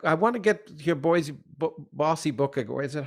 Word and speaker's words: Bosie: But before we get to that, I want to get your bossy book. Is it, how do you pronounce it? Is it Bossy? Bosie.